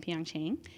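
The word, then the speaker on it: PyeongChang: athletes at the 2018 Winter Olympics right in Pang Chang oh I did it again I said it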